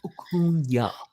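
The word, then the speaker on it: Acuña: He's like, it's Acuna.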